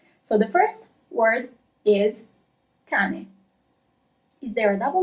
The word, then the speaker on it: cane: Okay, so really pay attention to the pronunciation. Okay, ready to start? So the first word is cane.